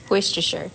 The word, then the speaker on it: Worcestershire: Nobody knows how to say that. Worcestershire, that's how you say it.